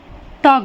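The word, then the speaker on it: talk: है बातचीत होना हाफ देखिए यहां पर टॉक में एल के जस्ट बाद क्या आया है के इसलिए एल को हमने साइलेंट कर दिया यहां पर एल के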